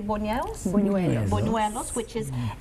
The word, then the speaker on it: buñuelos: We've talked about, and I how to say this correctly, buñuelos?